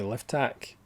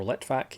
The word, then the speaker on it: Litvak: The Snake Pit, directed by Anatoly Livtak, or Litvak even, to pronounce his name correctly.